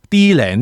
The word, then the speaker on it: D-REN: is named D-REN Earth Most of the customers use the English pronunciation D-RAN Earth But I will keep using Japanese pronunciation D-REN, because the president of Tiglon also pronounces like this Actually both pronunciation is